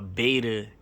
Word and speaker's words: beta: You see, so a beta is more or less a trial. So it rhymes with theta.